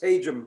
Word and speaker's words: Hajim: Hajim sounds much better, but it's Hajim, unfortunately.